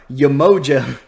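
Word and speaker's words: Yemoja: And so far we've got Ra, Artemis, Yamoja, like an emoji? No, Yamoja, and I may be mispronouncing some of these, Cocokhan, and Ymir.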